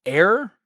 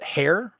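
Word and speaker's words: heir: Um, also it's it's air, not hair. Like h e iir is is pronounced with a silent h.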